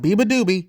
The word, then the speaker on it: beabadoobee: I generally didn't know it was real but BBA doobie yes that's how you pronounce it I'm not making any mistakes or